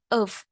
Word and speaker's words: have: Cái cụm must have been này thì mình có đọc cái âm have này mình sẽ đọc thành of. Đây là âm schwa.